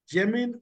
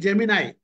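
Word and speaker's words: Gemini: நியூ ஜெமின் ஐ, இது வந்து ஜெமினாய் அப்படின்றான், ஜெமினி கிடையாது, ஜெமினாய் அப்படின்னு ப்ரொனவுன்ஸ் பண்றான்.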